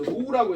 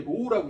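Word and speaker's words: ρ: 로우라고 해서 얘가 읽을 때 로우라고 읽어.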